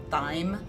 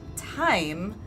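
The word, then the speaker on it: thyme: mispronounce that word because I saw the T and so I always thought it was pronounced thy which I always thought was weird then when I found out it was actually pronounced time it confused me even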